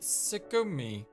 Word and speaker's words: Tsugumi: In Japanese, you write it moon and then ocean and read it Tsugumi.